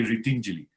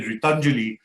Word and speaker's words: Ritinjali: In Sanskrit, it means helping hands if you say Ritinjali. But if you're a good Punjabi and you say Ritanjali, then it means empty hands. So we have to be very careful of the Punjabi pronunciation of my NGO, right? So but most people in northern India say Ritanjali, so I have to keep telling them, no, it's Ritinjali, which meant helping us.